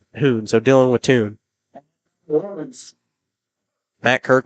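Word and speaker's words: Huhn: Taking up for your Titans will be number 12, Cole I'm pretty sure with the H-U-H-N that says Hoon, so Dylan Wattoon.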